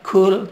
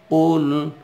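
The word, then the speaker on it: قُلْ: Jadi cara bacanya bukan kul tapi ul. Nah agak membulat ya.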